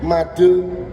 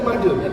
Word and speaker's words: Made: sewu Ibu ada tulisan Made in Sweden. Oh Bali. Nah, kan orang Bali. Bali Bali. Kan saya orang pribumi Bu, orang Jawa ya Bu ya. Jadi bacanya Made. Made. Kamet ya. Bukan made.